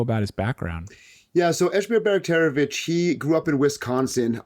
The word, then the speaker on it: Esmir Bajraktarevic: Esmir Bajraktarevic is how I go by.